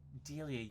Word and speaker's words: Delia: just think of like a dealer, like you're dealing cards, but it's a female version of a dealer, Delia.